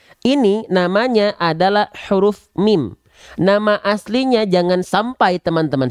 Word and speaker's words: mim: banyak makanya mim juga Kalau teman tem-teman tahunya ini huruf Ma khawatir Nanti ketika Dayat itu teman-teman bacanya Alama Alama jangan ya oke sip nah huruf mim ini namanya mim nama aslinya mim huruf mim ini dilafalkan sebagaimana persis kita melafalkan naturalnya huruf M pada abjad alfabet beres ya oke Ah